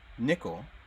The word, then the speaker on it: Nicole: My name is Nickel. Nickel. And Yes, but spelled like Nicole.